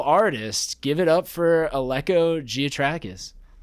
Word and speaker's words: Giatrakis: Give it up for Alco Gotrais.